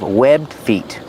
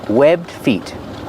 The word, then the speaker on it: webbed feet: They have webbed feet. Pronunciation, webbed feet. You don't really hear the D if you link the sounds together because it's a stop D.